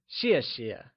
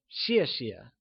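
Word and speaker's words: 谢谢: pronunciation tip in peening X is pronounced like she keeping this in mind let's look at the pronunciation of xie xie thanks translates to Xie xiè and is pronounced using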